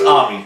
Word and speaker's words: Amy: really hard on it our main character's name is ami okay or spelled out amy but that's how they say it and it's about her